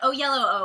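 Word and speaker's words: Oyelowo: a lot of things and he's incredible but oh yellow oh is how you pronounce his last name i looked it up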